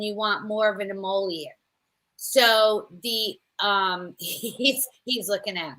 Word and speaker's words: emollient: And I hope you already did this, but you want something a little richer, thicker, and you want more of an emollient.